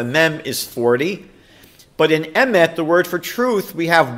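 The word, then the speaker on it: אמת: slide and the hebrew word for truth is Emmett or if you pronounce it like an Ashkenazi Jew would ms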